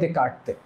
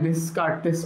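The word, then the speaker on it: Descartes: ঠিক আছে, এটার যিনি জনক ছিলেন তার নাম হচ্ছে রেনে দেকার্তে। রেনে দেকার্তেস পড়তে পারো, কিন্তু এটা আসলে এরকম না, ফ্রেঞ্চ নাম তো, ফ্রেঞ্চ নামে বানানো, এনার এই এসগুলো উচ্চারণ হতো না।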